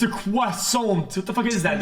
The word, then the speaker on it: croissant: It's a croissant. What the fuck is that? It's not a fish, dude. Literally 30 seconds on the grill. Here we go. The T is silent. There's no W.